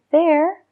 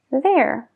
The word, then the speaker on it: there: recompensas usando la voz la lengua también está más atrás de hecho puedo decir la palabra there sin que veas mi lengua there no es como three que sí que se ve la lengua there es más suave es más tranquilo vamos a practicar con